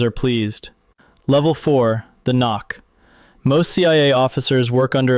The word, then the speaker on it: NOC: non-official cover, knock, pronounced knock.